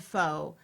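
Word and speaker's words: phở: lot here is that most people here would pronounce pho, right? The Right. soup, pho.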